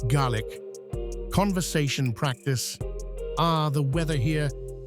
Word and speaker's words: Gaelic: Lochmaddy Adventures, where laughter fills the classroom as learners dive into Gaelic, pronounced Gaelic, conversation practice.